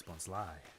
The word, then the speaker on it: Bonsly: as bonsly, but it's meant to be a bonsai tree, hence bonsly.